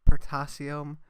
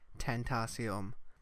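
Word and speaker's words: Tentacion: me for the video I pronounce X's name as potassium when I should be saying tain't aciem yeah so whether you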